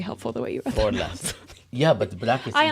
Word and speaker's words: Forlas: Oh, Forlas is the way I should pronounce it.